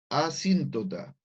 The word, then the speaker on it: asíntota: la función tiene un comportamiento de asíntota, con acento en la I. Por si acaso no lo quedó claro el nombre, ese es asíntota.